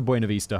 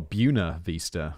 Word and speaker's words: Buena Vista: home from the shops she passed the Buena Vista hotel called the Buna by locals allergic to foreign pronunciations uh oh Buna Vista okay really a popular with